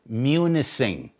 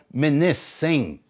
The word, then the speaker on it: Munising: that's what that means ish another town they pronounce it munising okay you listen to the weather reporters that's what that's what they pronounce it municin supposed to be called minis singh it just simply means island that's what it